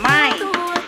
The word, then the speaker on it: Min: ng pangalan ko actually the normal pronunciation of my name is min kasi nga yung nickname